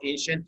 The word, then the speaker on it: ancient: Be careful about ancient here as ch. Okay, here because it is followed by I and E, and I and E are two vowels. Once you have C plus two vowels, especially IE, you pronounce it CH.